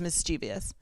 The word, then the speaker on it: mischievous: I would say 90% of the population says mischievous. Mischievous, yeah, that there's a an bell? extra syllable in there, I think.